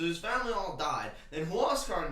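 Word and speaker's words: Huáscar: given to this guy whose name was huascar inca uh aka gwascar inca of the inca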